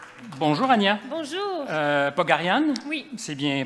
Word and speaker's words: Pogharian: Pogarian? Oui. C'est bien prononcé, d'accord.